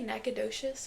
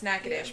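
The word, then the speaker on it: Natchitoches: Cuz I've known how to pronounce nacadish because we have to drive through it to come down here. But I think your mom might have said prior to knowing. I guess she thought that's how it was. Nagadoshious. Yeah. Or no, Nachito. That's what she thought it was. Nachosto. I was like, uh, so no, actually that is not how it is pronounced.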